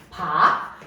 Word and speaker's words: 밖: 박이죠, 박. 이거 발음하면요. 발음까지는 할 수 있어요. 쌍기역이 발음 안 되니까 이거는 기역으로 발음이 된다.